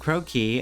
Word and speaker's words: croquis: long long search spree it's actually pronounced croaky it's a sketchy style